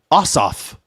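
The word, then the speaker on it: Ossoff: This the the accent is on both like the syllab accent is on both syllables.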